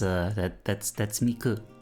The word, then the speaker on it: Miku: Metallics, it's Miko Day, yes. It's the 3-9. That's Miku. Because in Japanese it's like Mitsu and Q are ways to say 3 and 9.